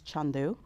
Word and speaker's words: Chandu: And so my name was Chandu. That's my nickname. So that's the Indian pronunciation. Okay. Um I've always been known as Shandu for as long as I can remember outside of my family.